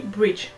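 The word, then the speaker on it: Bridge3: agence qui s'appelle Bridge, donc ça s'écrit Bridge 3, mais ça se dit Bridge.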